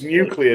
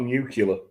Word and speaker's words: nuclear: aluminum my favorite misspell it's nuclear not nuclear my favorite misspelling by